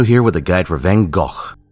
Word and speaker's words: Van Gogh: Fino here with a guide for Van Gogh. My condolences to the Dutch, but that's the only time I'm going to be pronouncing it like that.